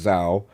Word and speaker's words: Zau: So for me, Tales of Kinsera of ZAU, I pronounce Zao, come the African warrior shaman.